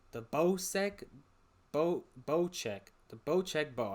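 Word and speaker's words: Bocek: bosek bow check the bow check bow i saw the pronunciation right under the picture the bow check bow is gonna be a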